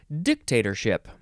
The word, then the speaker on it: dictatorship: in this episode is dictatorship um you could also emphasize the first syllable dictatorship d-i-c-t-a-t-o-r-s-h-i-p noun from 1542